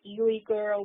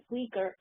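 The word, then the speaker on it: Uyghur: concentration camps in East Turkestan I know to pronounce it Yuri girl whatever because it begins with you it's actually pronounced Rieger now the weaker people are being sent at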